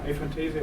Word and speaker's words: aphantasia: Christian Schulz is working his PhD uh on aphantasia um or a yeah aphantasia would be the English pronunciation and so he I don't say much more he's working in collaboration with myself.